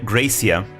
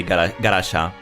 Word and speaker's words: Gracia: I've heard people pronounce her name Gracia in English, but I know in Japanese they call her Garasha. So I don't know which pronunciation to go for. I guess I'll call her the Japanese way, Garasha.